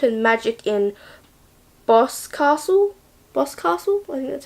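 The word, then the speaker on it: Boscastle: Museum of witchcraft and magic in boss castle boss castle that's how you say it and then there's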